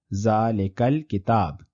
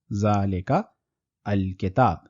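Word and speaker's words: ذلك الكتاب: So if we remove the harkat from hamzatul wasl, we will have zalikal kitab. This pronunciation is much more easier and more fluent than saying zalika al-kitab.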